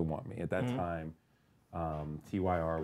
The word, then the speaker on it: TYR: At that time, TYR, which is tier, is how it's pronounced.